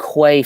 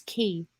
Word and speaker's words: quay: That's Dock Quay 50 meters. I've never seen your dock it's the same. before. That's how dude. you pronounce it. It's key, not quay.